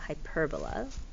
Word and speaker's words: hyperbola: is called a hyperbola sort of like Parabola but hyperbola Accent on the purr and notice the graph